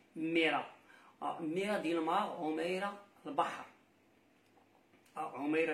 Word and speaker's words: Meira: Son nom, Omeira, alors ici, prononcé Mera.